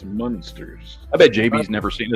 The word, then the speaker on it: Munsters: Because you say Munsters because it's spelled with an M-U, not an M-O. Gotcha. It's not Monsters, it's Munsters.